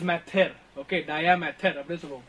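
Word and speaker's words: mater: இட் இஸ் நாட் மேட்டர், இட் இஸ் மெத்தர்.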